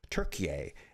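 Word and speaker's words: Türkiye: They are from Turkiye, as I've been told, the new pronunciation of, actually not a new pronunciation of Turkey, that's the way it was always pronounced, but then it was changed in the last century or so. But now they're trying to get it back and spelled the way it used to be spelled.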